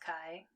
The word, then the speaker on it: chi: test statistic um chi it's spelled like c-h-i but it's pronounced kai it's a greek letter